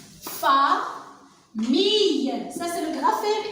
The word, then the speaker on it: famille: Fa, mille, ça c'est le graphème I. Ici, aïe, faites très attention, aïe, I, famille.